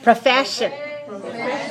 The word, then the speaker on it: profession: what word is that profession profession how many syllables are in this word profession three where's the stress second syllable profession right what part of